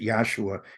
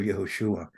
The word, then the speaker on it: Yahushua: he would he he pronounced it yosua instead of yahushua that the sacred names